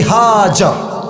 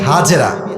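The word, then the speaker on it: هاجر: পারে বইয়ের নাম বিবি হাজর নাম কি বলেন সবাই আমরা বলি বিবি হাজেরা এটা সঠিক উচ্চারণ না আরবি উচ্চারণ হচ্ছে বিবি হাজর তো উনি যখন তাদের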